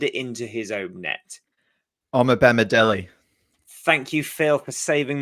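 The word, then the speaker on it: Omobamidele: whose name I'm probably going to butcher the pronunciation of, so I do apologise in advance. It's Omo Bandib.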